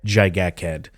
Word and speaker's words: Gigachad: As you may know, Revenant is the almighty Gigakhead. It's not pronounced Gigachad. Whoever says that is wrong. It's Gigakhead. Anyway, Revenant is very simple to play.